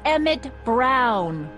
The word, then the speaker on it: Emmett Brown: to a t that's emmett brown rhymes with clown which i'm beginning to think